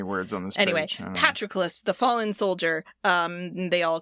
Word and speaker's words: Patroclus: Patroclus is how they say it. I don't know. I really thought I'd heard Petrocles or something closer to that, but I don't know, man.